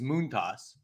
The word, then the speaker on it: Montas: he prefers it or the actual pronunciation is moont toss so oh really I